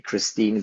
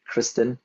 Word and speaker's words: Kristin: So I had a habit of saying your name wrong like several times in the beginning, so I kept calling you Christine, but it's actually Kristin.